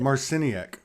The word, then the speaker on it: Marciniak: I'll learn how to pronounce it. Marciniak.